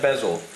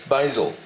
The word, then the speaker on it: basil: Now I've had a few people say, "Why do you say basil?" It's basil. Well, the Americans say basil. We say basil.